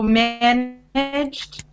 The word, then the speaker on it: managed: So managed, it's a voiceless sound. So it ends in voiceless T, managed, versus managed.